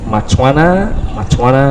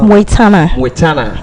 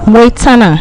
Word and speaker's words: Mwetana: And right now I'm about to talk to the head of commercial of Matwana It's Mwetana. Yes. How you pronounce it? Moitana. Mwe. Yes.